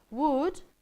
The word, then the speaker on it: would: to make a mistake would as you don't pronounce the L you forget right the